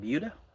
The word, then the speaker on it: Buda: And I think I'm saying it right. Buda. That's how they say it over there.